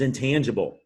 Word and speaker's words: intangible: tangible another adjective and the g intangible is a soft g because it's followed by an i which is you could pretty much count on if the g is followed by the letter i that's gonna be a soft g you're familiar with the